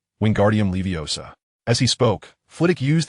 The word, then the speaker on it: Wingardium Leviosa: When reciting the incantation, ensure you pronounce it correctly, Wingardium Leviosa.